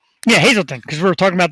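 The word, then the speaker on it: Hazleton: She was local from is it pronounced Hazelton? Hazelton? I never get that right. Hazelton, right? Yeah, Hazelton, because we were talking about the snow the other day.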